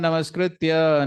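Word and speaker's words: नमस्कृत्य: Many speakers say Narayanam Namaskrityam. It sounds poetic and it rhymes with Narayanam. So, but please note, it is Narayanam Namaskritya. There's no ma there.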